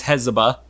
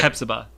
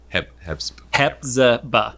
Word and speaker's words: Hepzibah: So that's Hezbollah. Okay. Hepzibah. Hepzibah.